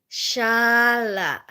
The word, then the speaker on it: Charlotte: So then, Mommy, repeat after me. Shala. Shala. But in Filipino it's like Charlotte, Charlotte. Where did all the letters go? How is it Shala?